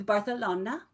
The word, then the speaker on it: Barcelona: I'm flying to Barcelona. I've always wanted to go there, and I've always wanted to say it like that too, because apparently that's how you're supposed to say it. See, Amber, see, a lot of you guys just said it to yourself, right? It's Barcelona.